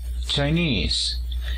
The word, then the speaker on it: Chinese: la primera sílaba sainz para la nacionalidad decimos tenis el acento se encuentra en la segunda sílaba chinese es por eso que